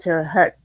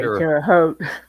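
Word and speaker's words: Terre Haute: the Twins and they always pronounced it ter Hut on there until the think it was like the third season and then they started pronouncing it uh the correct way terot terot yeah um like I said I should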